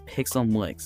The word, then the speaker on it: Pixelmlix: That's how you say it. It's Pixelmlix. It's not pickle or pick.